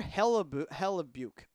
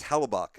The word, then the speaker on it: Hellebuyck: professor can't pronounce it I believe it's hella buck I think it just